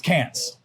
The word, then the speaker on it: Cairns: It's like Cairns. It's Cants. Cans? Kind of Karen. Canes is cans.